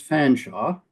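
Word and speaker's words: Featherstonhaugh: It's not Featherstone Hall, actually pronounced Fanshaw.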